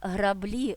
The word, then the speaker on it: граблі: узяв псевдонім маркетинг Марк вивчає маркетинг а слова граблі жалюзі піалати чи я ціник так і просяться